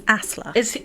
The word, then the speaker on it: Asle: So I had to Google how to pronounce that one because it's ASLE, but it's Asla.